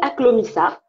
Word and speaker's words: Aklomissa: Alors, ma marque, ça s'appelle Aklomissa. Comment tu Aklomissa, l'écris? Aklomissa, ça s'écrit A-K-L-O-M-I-2-S-A, Aklomissa.